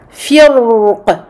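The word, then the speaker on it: فِرْق: Si je m'arrête sur ce mot, je vais dire firq, ra emphatique.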